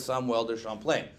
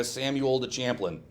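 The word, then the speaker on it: Samuel de Champlain: we'll talk about is samwell de champlain or if you live in america samuel the champlain okay please try to pronounce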